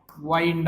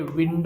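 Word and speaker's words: wind: त्यांना वाटत की हे वाईड आहे वाईड नाही हे विंड आहे विंड विंड म्हणायचं त्याला वाईड म्हणायचं नाही ओके वाईड कधी म्हणतो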